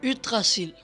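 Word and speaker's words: Yggdrasil: disclaimer or as my danish son who can actually pronounce it calls it utracil in norwegian is an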